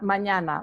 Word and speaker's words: mañana: if you practice a few times is hasta mañana like when you say espana that's the same